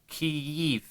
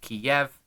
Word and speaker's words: Kyiv: When referring to the city, please pronounce it Kyiv, not Kiev, Yiv as in Yeehaw, not Yev as in Sarajevo.